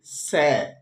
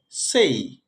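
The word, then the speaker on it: say: যেমন এস এই ওয়াই, এটাকে আমরা বলি স্যা। স্যা একটা ভুল উচ্চারণ, এটা শুদ্ধ উচ্চারণ হবে সেই।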